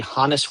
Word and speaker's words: Honus: So, let's get into the Hannis Wagner card, which doesn't rhyme with bonus.